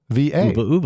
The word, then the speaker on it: Uva: Uva is at OOVA. Uva. There you go. I guess that tells us the pronunciation, answers doesn't the it, Josh?